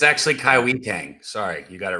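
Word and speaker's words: Kai-Wei Teng: I believe that is how his name is pronounced. Kaiwei Tang. It's actually Kaiwi Tang.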